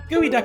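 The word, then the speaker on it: geoduck: though it's you know not spelled anything like that at least according to the rules of phonetic english i always thought that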